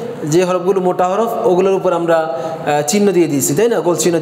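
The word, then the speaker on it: حاء: সরাসরি মূল হরফ মোটা হরফ হিসেবে নিয়ে আসা হয়নি আচ্ছা তাহলে এই হরফের উচ্চারণ বলেন খ হা জিম জিম খা এর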